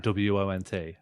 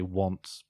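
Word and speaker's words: wont: and they're doing like w-o-n-t as is my want to do or as is his want okay that's actually pronounced won't that's that's the actual pronunciation of it people just say want because they assume it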